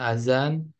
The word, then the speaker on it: azan: Kalau D ini AD itu misalnya azan, kan tulisannya adzan ya. Jadi yang benarnya azan.